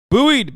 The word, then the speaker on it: buoyed: word god damn it how do you say that word viewed bullied buoyed buoyed by success that's right buoy buoyed by success Disney